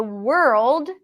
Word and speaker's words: world: so we're girl world so the world it starts with the word were and then you just